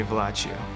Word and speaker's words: Vallaccio: and it became vallaccio and people pronounce it like fellatio but it would be better if you just call me vlacio so the process of